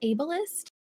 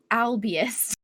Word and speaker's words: ableist: i've butchered every time is it ableist yes i always have to say really slowly because i want to say albious that's wrong i think that ableism